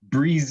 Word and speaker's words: Briese: But Briese Briese. is how our family pronounces it.